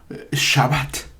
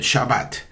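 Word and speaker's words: שבת: Puede decirse Torah. No es Torah, es Torah. O Shabbat. algunos lo dicen Shabbat, bueno, es cuestión de la escuela donde se aprendió, pero en el lenguaje hebreo el acento recae siempre en la última sílaba.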